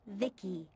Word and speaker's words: VI: transistors by the way I'm VI I pronounced Vicki my Creator was Vib